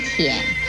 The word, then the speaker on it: 腆: 舔字的国语注音是 t 言舔三声舔，舔三声舔。